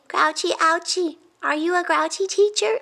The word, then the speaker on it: Ouchy: lee raises his hand your name rhymes with grouchy grouchy ouchie are you a grouchy